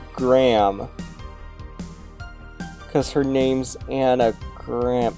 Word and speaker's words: Graham: I'm not going to pretend I know how to actually pronounce this, chat. Anna Green.